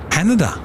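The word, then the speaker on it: Haneda: we've got uh qpd coming in from uh hanada if I've pronounced that cor you did you did you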